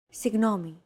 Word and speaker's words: Συγγνώμη: This character isn't pronounced using an English G sound at all. Γ. It's like a very soft, continuous, and loosely held G, almost as if you're gargling, but don't make it sound too throaty.